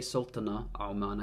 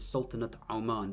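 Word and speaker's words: سلطنة عمان: Notice how I pronounced the ta here. I didn't say Sultana Oman, I said Sultanate Oman. This tar mabut becomes a ta because it's using the adafa construct, which is when you've got something of something else.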